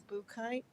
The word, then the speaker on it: Buchheit: It's Buchheit. B U C H H E I T and that's pronounced boo and kite, like a little ghost saying boo flying a kite.